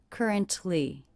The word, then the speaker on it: currently: currently in midtown again i did not hear the release of this tea that would be currently I heard currently with a stop that to stop T currently currently and in this three-syllable word i noticed that stress is on the first syllable ker ker currently currently in Midtown currently in